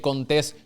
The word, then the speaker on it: Contés: Mi nombre es Contés, con acento en la E, y este es el podcast que nutre tu mente con ideas innovadoras.